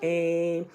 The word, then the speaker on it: Aim: um yeah ain't it's it's spelled like a a i am but it's really the feminine form of ohm so it's like om or aim whether you were saying